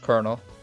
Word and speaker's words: colonel: why why this boat like that but it's pronounced colonel english is so so weird I swear and